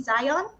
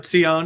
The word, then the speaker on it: Zion: Zion in Thornhill Ontario did I pronounce it correctly Zion Zion or tion is fine either one okay um he is a